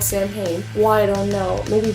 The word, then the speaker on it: Samhain: ever talked about saying hey you've always said Sam hey I so look well maybe he just doesn't know how to pronounce it and I was like no because